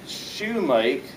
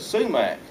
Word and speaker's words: sumac: this fellow said so why do you call it shumake and we call it sumac that's well that's a simple answer that's because we know how to say it I hadn't been asked